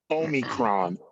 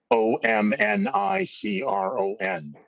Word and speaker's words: omicron: want to call it omicron o m i c r o n my dyslexia season n o m n i c r o n omnicron is the wrong pronunciation but people are using